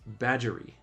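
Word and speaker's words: Badgeworthy Water: river called Badgeworthy Water, pronounced badgery.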